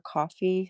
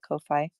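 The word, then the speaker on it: Ko-fi: She has a Kofi account or coffee, however you want to pronounce it. I call it Kofi.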